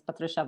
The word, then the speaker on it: Patrycja: introduce yourself please hello everyone my name is patricia it's very difficult to pronounce i guess i've been doing professional software